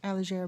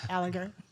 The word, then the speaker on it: Allegier: The French way is Allegier, but the American way would be Alleger, as we do.